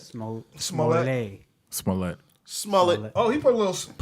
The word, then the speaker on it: Smollett: Before we go into to Jussie and the what's how do you pronounce it? That was is it Jussie? Jussie. Smollett? Smollett. Smollett.